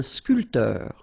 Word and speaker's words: sculpteur: All right, so un barman, un sculpteur. Same thing here. This P here is not pronounced. So sculpteur, un sculpteur.